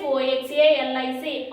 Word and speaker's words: oxalic: OXALIC, oxalic acid.